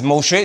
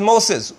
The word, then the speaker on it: Moshe: His name is Moshe. Look at the top. Go up. Just see right. See that? Isn't it? Look at English language and here. King James and others say his name is Moses when it's right before you the pronunciation of